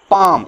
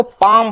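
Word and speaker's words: palm: some parts like the पाम इसको पाम बोलेंगे पलाम नहीं बोलेंगे ये क्या है ये ये तलती है इसको पाम बोलते हैं ये जो एल है ना इसका उच्चारण नहीं होता होता है ऑफ द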